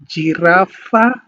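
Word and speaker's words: giraffa: আমি এগুলো আরেকবার আপনাদেরকে উচ্চারণ করে দিই, সেটা হচ্ছে জেমেলি, জিরাফা, জেন্তে, জেসো, যুবত্ব, জাক্কা, giusto giornale।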